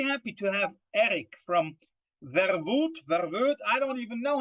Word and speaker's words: Verwoed: Verwoed. Verwoed. Okay, so yeah, the O-E is U in English, right? In Dutch. Yeah, right? you nailed it, basically. Yeah, first try.